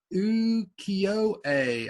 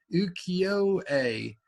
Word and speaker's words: Ukiyo-e: Ukiyo-e. I believe you don't pronounce the E and E, you say A. Ukiyo-e. I could be wrong.